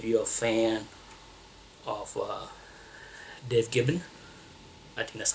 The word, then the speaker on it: Gibbons: So if you're a fan of Dave Gibbon, I think that's how you pronounce his name, Gibbons, then you might want to check out this book because it contained his first work for Marvel.